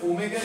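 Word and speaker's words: omega: তারপরে এখানে ওমেগার মিনিংটা কি? এটার উচ্চারণ কিন্তুড না।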